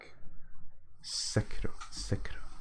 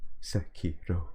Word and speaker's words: Sekiro: So seems like the in vogue thing is to put the emphasis on the first syllable. Sekiro.